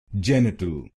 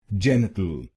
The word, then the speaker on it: genital: so it will become genital genital and in this word you have to put stress on the first syllable genital genital now you know